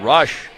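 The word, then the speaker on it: Roesch: Jordan Rush's first foul. So Rush, I think it's pronounced it's R O E S C H. They say Rush.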